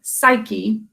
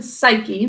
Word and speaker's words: Psyche: youngest who was named psyche by the way this is how psyche is spelled with the silent no that's confusing but keep it in psyche that's the way you